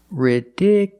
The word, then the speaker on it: ridiculous: at this word ridiculous the stress moved to the second syllable ridiculous so the last two syllables are short it's not you it's